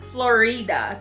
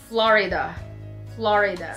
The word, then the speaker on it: Florida: Not Florida, because I heard somebody saying it as Florida. It's Florida.